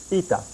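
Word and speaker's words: η: an ITA this is an article it is pronounced ITA every noun has an article there is an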